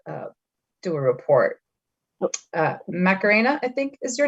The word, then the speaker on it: Macarena: would like to uh do a report uh macarena i think is your name correct is that am i pronouncing that correctly yes that's correct okay she